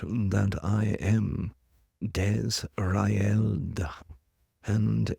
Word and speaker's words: Desraeld: But he is correct that I am Desraeld. And if you were to break this phonetically, Desrael and this is an